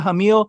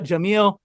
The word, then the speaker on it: Jamil: good place uh hamila hamill and if again if i mispronounce that in my apologies oh so it's actually the gpa instead of like a h okay jamila jameel she plays t titania is